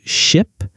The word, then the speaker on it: ship: Another thing I want to mention is the difference between similar sounds like ship and sheep. Oh, that's a great example. Ship has a short I sound like I.